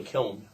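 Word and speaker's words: Kiln: maybe they'll go to kilm Mississippi Kil Kil it's got an n and it doesn't mean it's pronounced by the way Daman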